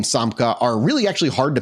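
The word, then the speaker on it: Samca: Samka. I'm pretty sure that's how you say it. It's pretty much spelled how it's said.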